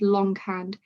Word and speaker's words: longhand: So for example, the word longhand, two separate words shoved together, and you pronounce both the G and the H.